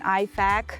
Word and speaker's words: IFAK: And one little detail here, guys, please pronounce this acronym correctly. It's an IFAK, right?